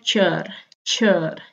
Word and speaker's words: kör: Tulisannya kor, tulisannya ker, tapi dibacanya kör ya.